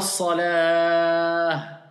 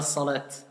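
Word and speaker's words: صلاة: Quand on fait l'adhan, hayya ala salah. Vous entendez le mu'adhin, il dit ça. Il ne va pas dire hayya ala salat. Mais à la base, salat, c'est un ta à la fin.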